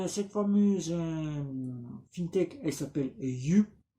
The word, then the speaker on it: Yuh: Donc cette fameuse FinTech, elle s'appelle You. On va dire You parce que c'est comme ça se prononce en Chine. Ce n'est pas du chinois, c'est du suisse.